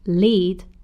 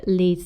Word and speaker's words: lead: to lead and Leed to lead pronounced lead means to be a leader or to have followers for example the manager leads the team lead however pronounced lead is a type of metal for example we now